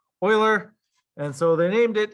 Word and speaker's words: Euler: actually pronounced euler it kind of looks like euler but it's actually pronounced euler and so they named it in his honor